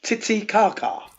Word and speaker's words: Titicaca: Lake Titicaca. Thank you. Many Karen. If I'm pronouncing it wrong.